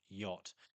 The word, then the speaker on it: yacht: But in English, however, we shifted the pronunciation of that A to the O phoneme, yacht, and the CH has fallen completely silent.